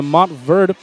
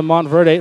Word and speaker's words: Montverde: On a note for the away team, I've been informed that it is pronounced the Montverde Eagles and not the Montverde, so apologies towards Montverde Academy.